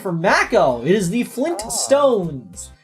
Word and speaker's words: Flintstones: It is the Flintstones. Many people improperly remember it as Flintstones because the theme song doesn't pronounce the T very well.